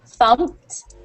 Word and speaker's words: thumped: end with Ed um we either pronounce them uh with a t sound at the end or just a D sound so you'll hear thumped thumped um and it kind of sounds like either a light D or a harsh T thumped thumped see how